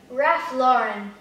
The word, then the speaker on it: Ralph Lauren: Ralph, tá? Porque o R, gente, é R, né? Não é R, como o Brasil. Então, muitos brasileiros ainda pecam um pouco no R, né? Porque o R aqui, o som é R. Então, nessa palavra seria? Ralph Lauren.